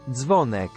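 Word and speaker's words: Zwonek: do you pronounce that zvonneck zvonneck zvonneck so their W was read as V so zonek all right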